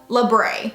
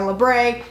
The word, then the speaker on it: labret: So the first one is just a simple labret or labret. However you pronounce it, it's technically labret.